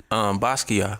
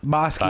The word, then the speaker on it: Basqiyah: It's Yeah, it's just say Basqi and then Ya. Ya. Like, Basqiyah.